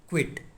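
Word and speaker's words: quit: And third one है क्यू यू आई टी, क्विट। ये तीनों वर्ड भले थोड़े जैसे हमें सिमिलर लग रहे हैं, लेकिन इनके डिफरेंट प्रोनाउंसिएशन है, साथ ही साथ इनके मीनिंग भी बिल्कुल डिफरेंट है।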